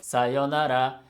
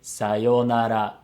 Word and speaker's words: sayonara: they said it sayonara it sounds like it only has four moras now this is where the concept of maura is important because if you look at the letters it has five letters so it has five morals but when we say this word we pronounce the two letters yo it becomes a long vow yo but this long vowel has two morals so if you're counting it has to have five morals and it's very common